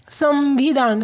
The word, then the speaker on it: संविधान: संविधान, सम म की आवाज़ आती है, तो अनुस्वर की जगह